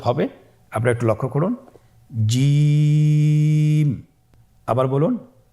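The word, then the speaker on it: جيم: যাবে এর মাখরাজ হলো জিহ্বার মধ্যখান তার বরাবর উপরের তালুর সঙ্গে লাগিয়ে উচ্চারিত হয় আপনারা পিকচারে ছবিতে দেখতে পাচ্ছেন যে জিহ্বার মধ্যখান তার বরাবর উপরে তালের সঙ্গে লাগিয়ে উচ্চারণ করতে হয়।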